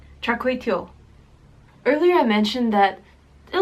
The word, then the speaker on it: Char Kway Teow: I think I've been mispronouncing this dish the whole time. It's more like Char Kway Teow, right? Char Kway Teow.